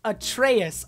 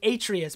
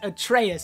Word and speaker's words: Atreus: out to me that the son's name is pronounced Atreus. All throughout my last video for the E3 2017 trailer, I was saying Atreus, but it's actually pronounced Atreus.